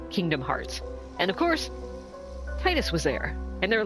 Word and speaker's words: Tidus: And of course, Tidus was there.